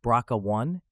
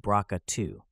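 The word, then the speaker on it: BRCA: big role particularly in the bra 1 and bra 2 genes pronounced braa 1 and braa 2 exactly people might be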